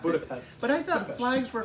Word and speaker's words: Budapest: You said it the right way, Budapest. I said Budapest. So that's how you pronounce Budapest.